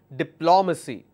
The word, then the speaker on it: diplomacy: law ma see again my stress will be on the third last so I will stress here and the pronunciation will be diplomacy it's not diplomacy its diplomacy all right the next